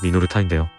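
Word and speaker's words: Minolta: 우선 우리가 흔히 미놀타라고 발음하는 회사의 일본식 발음은 미노르타인데요.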